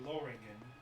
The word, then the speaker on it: Lothringen: According to this game's pronunciation, it's actually Loringen, Lothringen.